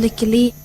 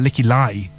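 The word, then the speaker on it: Lykke Li: let's see if you're right hi I am licky Le licky licky Le common mistake there with that one I think is uh licky lie do you ever say I never you never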